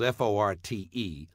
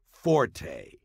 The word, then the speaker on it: forte: English word Fort spelled f o r t and meaning specialty or strong point is not pronounced Forte got that it's pronounced Fort the Italian word Forte